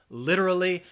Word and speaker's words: literally: literally you say something literally I think again it's challenging because of that R and L R that L and R sound literally literally try to